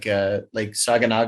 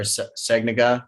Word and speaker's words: Saganaga: Anytime we could, we would put our site for the night right before a big lake, like Saganaga or Sagnaga, however you want to pronounce it.